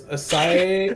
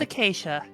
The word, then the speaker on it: Acacia: Asacia? It's Acacia.